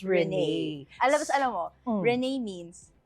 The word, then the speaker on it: Renee: walang accent, pero It's pronounced Rene.